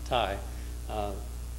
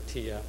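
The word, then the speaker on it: Tiye: consort of tea or ahmed pronounced it thai other people pronounce it t or tia there's no direct but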